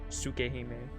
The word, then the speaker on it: Tsukehime: Some Japanese help you don't pronounce the T in Tsukehime. Gotcha. There's so many Japanese words like that people have been helping me out with in chat where you literally just don't pronounce the first letter.